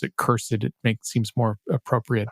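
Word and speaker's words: cursed4: can install cursed 4 or I prefer to pronounce it curse it it makes seems more appropriate but just curse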